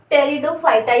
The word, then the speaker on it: Pteridophyta: इसके अंदर आते हैं यह पीड़ित बच्चों साइलेंट रहता है इसीलिए हम इसको टेरिडोफाइटा भी बोलेंगे कभी आप यह बोल दोगी पटेटो पॉइंट यह नहीं होगा इसका यह क्या है